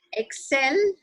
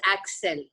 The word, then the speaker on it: Excel: And excel, you pronounced as axel. Excel, axel.